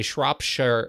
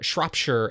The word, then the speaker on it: Shropshire: Rings in its pronunciation here we say Shropshire Shropshire as in Shure as in shirt without the tea I hope that helps